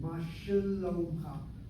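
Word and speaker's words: מה שלומך: So the word mashlomcha, that ma letter, the letter sheva with dagesh chazak in it. Notice how I'm saying it, mashalomcha.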